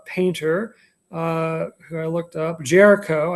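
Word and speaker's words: Géricault: Jericho, I believe, is the correct way to pronounce it, more or less.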